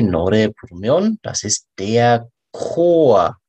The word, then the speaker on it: Chor: 많은 사람이 이렇게 같이 노래 부르면, das ist der Chor. CH in der K 발음. Der Chor, der Chor 말고, der Chor입니다. Chor. Marie, 여성 이름. Marie singt im Chor.